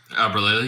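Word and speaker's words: Albralelie: TSM, Imperial Hal and Aberlily, is that how you say his name? Aberlily, yep, Mac.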